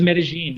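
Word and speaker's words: Medellín: I thought it was Medellin, not Medellin. So thank you. It is Medellin.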